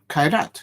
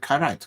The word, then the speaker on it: Kairat: So you do pronounce it Kairat. Kairat. Yeah, it should be said Kairat. It's A-A-R, Kairat.